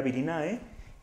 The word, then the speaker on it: Virinae: La subfamilia se escribiría Virinae y se le llama Virina.